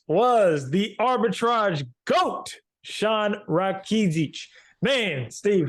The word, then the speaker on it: Rakidzich: Rakidzich. There you go. I wrote it how I could spell it.